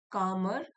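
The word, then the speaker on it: calmer: Rohan notice that when he worked early he felt कामर L silent है कामर and more in control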